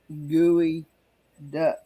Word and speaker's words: geoduck: A gooey duck is a clam. No. I'm tapping this. Okay. Kenny's Googling. Okay. It's spelled the Geoduck, but it's pronounced gooey duck.